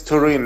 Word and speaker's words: Turin: an idiot it's it's Turin like Torino in uh Italian uh Juventus is the club from Turin you know Juventus okay